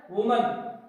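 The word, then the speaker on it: women: तो वुमन का जो प्लूरल होगा वो होगा वीमेन। क्या होगा? वीमेन। उसका उच्चारण भी बदल जाता है जब उसका सिंगुलर से प्लूरल बनाते हैं तो वीमेन।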